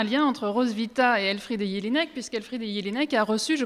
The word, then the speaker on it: Jelinek: Et ne vous inquiétez pas, si vous n'entendez pas prononcer Jelinek, je vais le prononcer tel qu'il l'est en Autriche et donc appeler mon auteur Elfriede Jelinek.